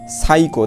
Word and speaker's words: psycho: শব্দ শুরু হলে, হ্যাঁ, পিএস দিয়ে কোনো শব্দ শুরু হলে এই প্রথম পি যে থাকে, অর্থাৎ পি যে থাকে, এই পি এর উচ্চারণটা হয় না। দেখো এই জায়গায় উচ্চারণটা হয়েছে কি? সাইকো, দেখো সাইকো, PSYCHO সাইকো, দেখো এই পিটা কিন্তু উচ্চারিত হয় না, এই যে SYCO সাইকো